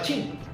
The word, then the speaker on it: Qing: La dinastía colonial se escribe Qing, pero se pronunciaba Qing.